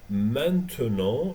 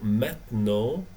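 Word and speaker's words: maintenant: start meant to know this word has three pronunciations we can say meant to know or met no or mano as you like to say okay for me i prefer met no je parle francais now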